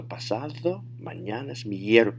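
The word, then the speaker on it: pasado mañana: to shine alright so pasado mananas notice my voice went up in the air and there's also a little accent in the middle of miercoles that's what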